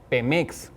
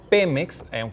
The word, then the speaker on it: Pemex: Por ejemplo, eh, Pemex, si deberíamos escribirlo con con acento en la e porque tenemos Pemex solo con mayúsculas y en realidad, bueno, pues deber sin como no lleva acento, deberíamos estarlo pronunciando Pemex, pero bueno, si alguien